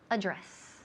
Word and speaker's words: address: The email address. Address. Énfasis en la segunda sílaba.